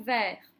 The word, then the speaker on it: verre: Une sucette, un verre, une marelle, maîtresse, reine. Comment est-ce qu'il se prononce ce E qui est suivi de deux consonnes et d'un E? Eh bien, il se prononce est.